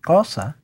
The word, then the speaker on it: Xhosa: Well, the southernmost Bantu languages, languages like Zulu and Mandela's language, which should be pronounced something like Xhosa, with another click, actually borrowed four basic clicks.